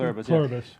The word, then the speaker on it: Pluribus: way, it kind of reminds me of uh pluribus, right? Did I pronounce that correct? Pluribbus.